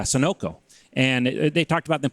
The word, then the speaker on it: Sunoco: I think was called Sunna Co or however you pronounce that Sonico Sunoco yeah Sunoco and they talked about